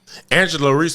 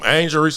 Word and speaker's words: Angel Reese: Angela Reese gonna want the ball every time. Angel That Reese? ain't her name. Oh, Angel. Yeah, whatever. But yeah, I'm sorry to say your name wrong. But Angel Reese gonna want the ball